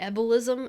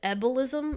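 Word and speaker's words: ebullism: she has the the ebolism and that's not embolism that's the ebolism i might be pronouncing it wrong but it's e-b-u-l-l-i-s-m it's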